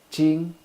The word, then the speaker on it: Jing: the the second tone Jing is in the first tone ching ching ching ching